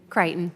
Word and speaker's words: Crichton: Crichton, is it Crichton or Crichton? I want to make sure I'm saying it correctly. Crichton.